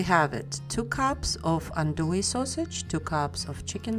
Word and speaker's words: andouille: worcestershire sauce and using andouille sausage is very very traditional in making gambo and by the way it is pronounced undoi although it has two l's but the two l's are silent after slicing the sausage